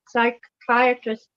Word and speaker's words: psychiatrists: enjoy them Maureen amazing psychiatrists going to the bathroom because you can't hear the people because the p is silent did it psychiatrist you